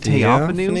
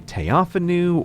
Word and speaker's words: Theophanu: The most famous example appears in 972 with the Empress of the Holy Roman Empire, whose name is written this way and probably pronounced Theophanu.